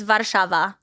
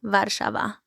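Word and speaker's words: Warszawa: that how you pronounce is that how you pronounce it in Polish it's well it's vava that's the actual name vava so is American Way translation yeah vava I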